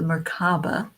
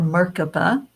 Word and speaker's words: merkaba: chakra this object is the merkaba or merkaba there's different ways that it's pronounced this is a special